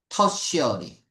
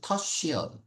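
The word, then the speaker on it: tertiary: 터쉬어리. 쉬 발음이 나요. 그래서 터쉬어리.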